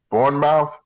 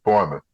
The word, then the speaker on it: Bournemouth: background I was like born mouth sure he said no fool Bournemouth that's correct y there's some people